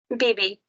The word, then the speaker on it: BB: You pronounce it BB or baby? BB.